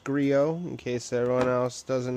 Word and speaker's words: Griot: It is pronounced Griot, in case everyone else doesn't know, T is silent.